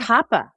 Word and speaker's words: COPPA: COPPA is another one that it technically applies to school system Wait, that's how you pronounce it? providers. Not COPA? COPPA.